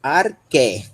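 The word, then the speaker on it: ἀρχή: Só essa sílaba. Arque. Arque. Isso, arqué.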